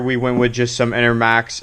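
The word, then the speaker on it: Enermax: went with just some inner max enter enter yeah enter max i said it right all right i said right enter max sqa rgb whatever they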